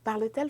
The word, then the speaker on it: parle-t-elle: But for pronunciation purposes, parce que ici j'ai deux voyelles, ok? Donc, vous ne pouvez pas avoir deux sons de voyelles ensemble, donc je vais ajouter la consonne T, hyphen T hyphen.